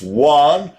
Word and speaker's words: yuan: have to pay in rubles one yuan is pronounced juan or rupays though they might decide to sell